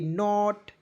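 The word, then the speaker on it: knot: बिल्कुल ध्यान से देखिए के को साइलेंट कीजिए एन ओटी को पढ़ेंगे नॉट क्या हो जाएगा दोस्तों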